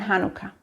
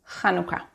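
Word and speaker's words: חנוכה: But if you want to pronounce these words properly as they are in Hebrew, you need to use the letter chet, making a ch sound. So it's just chala, chanukia, Chanukah.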